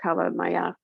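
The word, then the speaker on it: kala namak: i use this it's black salt um properly pronounced cava maya and it has a sulfuric tendency to it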